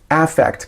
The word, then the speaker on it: affect: A usually it's pronounced effect kind of like Ben Affleck but effect is a